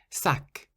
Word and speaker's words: sac: For example, sac. Sac means bag, and you pronounce the C on the end, sac.